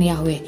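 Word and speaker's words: Yahweh: hal ini tetap G yhvh pasti diucapkan yahwe menurut dia Yoke valve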